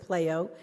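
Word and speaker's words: PLAIO: learning assessment inside out we do pronounce it playo and it's an internation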